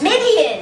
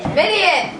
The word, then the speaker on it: Midian: So Moses left the peaceful land of, I still don't know how to pronounce this. Midian. Midian.